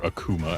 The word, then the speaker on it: Akuma: Yeah, I'm gonna try to beat this whole thing using only the Akuma moves, or Akuma as they pronounced it.